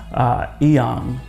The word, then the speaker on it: Inyang: Bell's Power Project podcast, Nsima Inyang, or Inyang, as he would tell me to pronounce it correctly, Inyang.